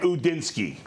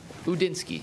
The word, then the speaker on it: Udinski: Grant Udinski. Udinski.